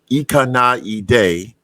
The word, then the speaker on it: 行かないで: Okay, first of all, I pronounce it wrong. I mean, I don't know, but so it's Ikanaide, which means don't go away.